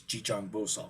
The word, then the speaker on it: Jijang Bosal: uh chitty Garba in in the sino-korean pronunciation which is jijong boso so a big part of the chant is just saying jijong bosal over and over again